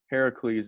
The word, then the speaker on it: Heracles: tried Hercules versus Heracles Heracles is the Greek spelling and pronunciation of Hercules this Hercules right here